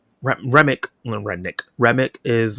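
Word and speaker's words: Remmick: Um I think just Remnik. Is it Remnick? That's how you say his name. No, Remick.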